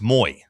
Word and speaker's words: Moy: Like if you look at their pronunciation guide, like on his bio, it says It's Moy, like Jackson Moy, basically.